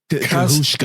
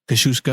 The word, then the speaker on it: Kazuchika: Kazuchika. How we would say it would be Kazuchika. Kazuchika. Kashushka. But that's because we're terrible Americans. I Yeah. think it's Kazuchika.